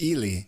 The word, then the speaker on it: Ely: Could it be Eli? References. I don't know. It's Ely is the pronunciation.